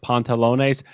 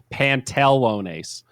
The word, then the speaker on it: pantalones: point on an exam because i pronounced pontalone's pantelonace i did an e instead of an a in the middle and i got a minus two for that it's pontalones two a's wow don't get it